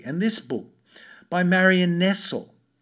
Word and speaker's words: Nestle: And this book by Marion Nestle. Interesting that, it's spelt exactly the same way as Nestle, but she wrote a